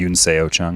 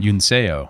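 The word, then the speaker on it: Yunseo: So, Uno Chung, I think I pronounced her first name right. Yuno Chung. Yuno.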